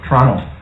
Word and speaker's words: Toronto: Toronto. Canadians don't pronounce the T.